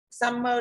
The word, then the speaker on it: summer: Summer thì có đuôi ơ đấy. Đuôi ơ không nhận trọng âm. Đúng không ạ? Đuôi ơ không nhận trọng âm thì đương nhiên summer phải là âm tiết thứ nhất.